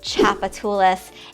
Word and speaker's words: Tchoupitoulas: And lots of people who are not local and are not familiar with how to pronounce the word, maybe we can put it across the bottom here, Tchoupitoulas.